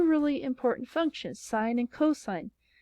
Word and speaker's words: cos: And that allows us two really important functions, sine and cosine. They're abbreviated SIN and COS, but they are pronounced sine and cosine.